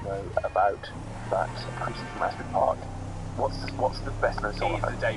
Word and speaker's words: Asbury Park: I thought it was the debut, but it's Greetings from I Never Know How to Pronounce Asbury Park or Ashbury Park. Asbury Park. Well, I'm just going to go with the lack of H rather, but I can sympathise with your dilemma.